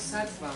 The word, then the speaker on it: sattva: ¿Es una R? ¿Eso es una V? ¿Es ¿Dónde? sattva? Eso es una V. Ah, es sattva. Sattva. O sea que Sattva como si fuera una V.